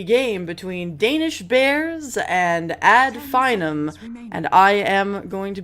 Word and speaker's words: Finem: You've casted both teams, and it's pronounced Finem. Yeah, I think it's Finem. That's correct.